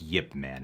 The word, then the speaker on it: Ip Man: his board yip man i think it's yip man it's the correct pronunciation just put it down